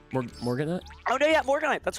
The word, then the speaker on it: Morganite: Master Duel, but I'm going to butcher their pronunciation, Morganites? Morganite?